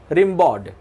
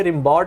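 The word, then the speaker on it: Rimbaud: Arthur रिम्बाउड। Actually रिम्बाउड बोलते हैं पर ये रिम्बाउड नहीं कहा जाता है, इसको उच्चारण के रूप में कहा जाता है रिम्बाउ।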